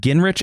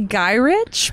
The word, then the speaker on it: Gyrich: Now, Sam was later recruited by Henry Peter I've heard Gingrich and Gyrich. How do you say that? I would say Gyrich.